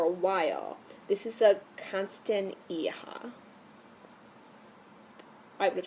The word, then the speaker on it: Constantia: this guy for a while this is a constant aha I would've said constant Teja but when I looked at it through the